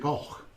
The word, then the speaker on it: Cor: Well, they pronounce it Goch. But it's actually spelled Cor, C-O-R.